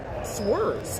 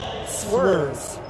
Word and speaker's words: Schwers: Miranda says Macomb number 11, Emily Schwers, is pronounced SW-ER-Z, watching from Carlton, Michigan.